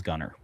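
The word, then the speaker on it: Gunnar: If you went to Iceland or Scandinavia, where the name Gooner comes from, you would learn the correct pronunciation. You would learn the correct pronunciation of Gooner.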